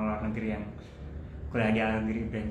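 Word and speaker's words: Ağrı: Kalau misalnya bahasa Turki sebenarnya agak susah, soalnya G pakai G musyak, I-nya yang nggak pakai tik dibacanya jadinya are.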